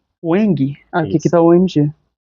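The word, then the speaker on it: UEMG: Ueng. Ueng. Aqui que tá UMG. É. É, mas a pronúncia é o eng.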